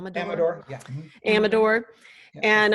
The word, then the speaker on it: Amador: Am I pronouncing that right? Amador, yeah.